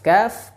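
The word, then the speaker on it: كاف: Nah, pada proses pengucapan huruf kaf, pangkal lidah terangkat dan menempel di pertemuan atau di pertengahan antara langit-langit lunak dan langit-langit keras.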